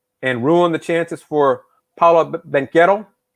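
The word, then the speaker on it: Banchero: ruin the chances for paula benketto that's how they pronounce it and they during the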